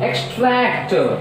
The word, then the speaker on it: extract: Now extract. So as X is a prefix, so the second syllable starts from the tract. Tract. So T. So stress is on second syllable.